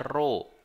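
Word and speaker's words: ρ: dirumuskan massa jenis itu lambangnya ini kayak P Tapi bacanya bukan p bacanya roh ini bacanya Roro atau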